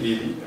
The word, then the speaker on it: Healy: Well, my name is Healy, or Healy, as we pronounce it in French.